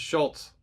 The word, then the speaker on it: Szulc: stop in understanding what to say next it's Schultz just so you know Dr Schultz now a lot of you have met and